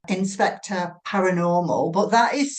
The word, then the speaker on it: Inspectre: One of which is called Inspector Paranormal, but that is spelt INSPECTRE. So inspector, as in, the word spectre, which is a really cool way of pronouncing it, a cool way of describing the show.